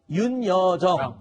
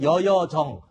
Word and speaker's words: 윤여정: 그러니까 윤여정 이게 잘 발음이 안 돼서 여여정 또는 그냥 편하게 정 이렇게 불렀었나 보군요.